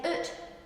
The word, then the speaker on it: ut: You wouldn't say out, you'd say ut, You wouldn't have a mouse in a house, you'd hae a moose in a hoose.